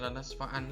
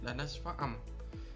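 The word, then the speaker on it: لنسفعا: karena bertemu huruf ba, sehingga tidak dibaca lanasfa'an lagi tapi lanasfa'am.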